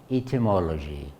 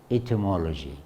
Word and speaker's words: etymology: Stress here on the third.